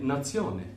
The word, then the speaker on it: nazione: be sione so nation would be you'd say nazione quite simple in french it's the same as